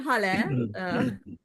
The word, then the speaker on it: Hale: So I'm Hale, pronounced like hallelujah. I'm a health span coach.